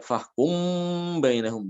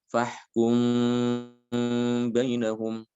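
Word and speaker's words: فَاحْكُم بَيْنَهُم: Di sini mimnya itu dibaca secara samar, ya tidak ditekan, tidak ditasdidkan, tidak. Ya. Jadi dibaca fahkum bainahum, tidak demikian ya. Tapi dibacanya samar. Fahkum bainahum.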